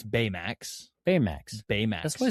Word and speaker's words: Baymax: Baymax. Betamax.